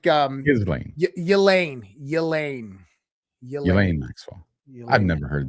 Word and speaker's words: Ghislaine: You're like Jizz Lane, right? Like no, it's like Ghislaine. Elaine Maxwell. I've never heard that one. Yeah, Elaine Maxwell. Ghislaine.